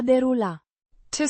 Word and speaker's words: derulat: derulat, The past participle of the verb, a derula, to scroll, pronounced, derulat, with the stress on the first syllable and a soft te, It describes the action of scrolling through something, like images on a screen.